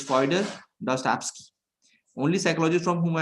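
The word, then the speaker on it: Fyodor Dostoevsky: be you will be reading this name as foder Dusty so it's fer dust absk only psychologist from whom I have anything to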